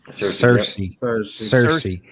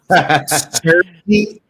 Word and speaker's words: Searcy: a family unit near, is it Searcy? Is that how you say it? Yep. Cersei. Oh, yeah, Get out of here. Hey, listen, get out of here with that northern stuff, man. Cersei, Arkansas.